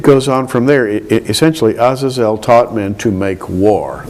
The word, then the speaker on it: Azazel: Fallen Angels was called Azazel or Azazel it would be pronounced in the Hebrew and from The Book